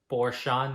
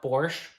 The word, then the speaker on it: Porsche: back from Porsche event apparently that's how you pronounce it Porsche not Porsche they were unveiling the new model Taikan pretty